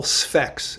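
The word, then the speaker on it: Sphex: name that begins with the first syllable specs s-p-h-e-x and and he says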